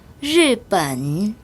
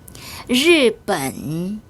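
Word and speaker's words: 日本: 그리고 선생님 따라서 큰 소리로 발음해 볼까요? 르반. 르반.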